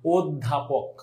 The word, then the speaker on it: অধ্যাপক: আমি যেমনে করি সেমনে, অধ্যাপক, অধ্যাপক, কি বলো, অধ্যাপক। এখন এই অটা কিসের মতো উচ্চারণ হচ্ছে বলো এবার দেখি। এই অটা এখানে কি ও এর মতো উচ্চারণ হয়ে গেল না?